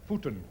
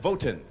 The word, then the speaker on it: Voeten: Chris, how do you pronounce the last name? Voeten. Voeten. I was close. I said Voten.